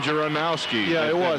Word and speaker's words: Janowski: was that was Dan Janowski made that and that's doesn't look like Janowski but that's that's what I was told how you pronounce it but great job of